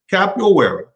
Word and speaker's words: Capoeira: anyway let's continue so capital where is a portuguese pronunciation is an african martial